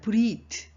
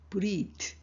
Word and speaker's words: breathe: 그 다음 breathe. 이런 보세요. breath 뒤에 e만 하나 더 붙었죠. 그렇지만 th의 발음이 달라집니다. breathe, 이래 되는 거거든요.